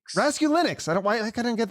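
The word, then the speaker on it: Raskulinecz: name right rask rascal rascalis close so bad brother it's really easy rescue linux rescue linux i don't i don't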